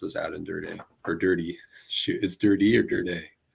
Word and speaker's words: Durde: surprise is um besides Aden der's name being pronounced as ADD and dir or dirty shoot is dirty or dir dirty dirty all